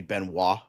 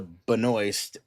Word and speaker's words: Benoist: Um but technically Dan is right. It is supposed to be Benoist, but uh Melissa Benoist, cuz I heard it from her mouth, cuz she was doing an interview, she's like, "Hi, I'm Melissa Benoist."